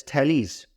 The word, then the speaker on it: Thales: the first philosopher was thales thales of melitus pronounced as thales so thales was interested in natural philosophy undoubtedly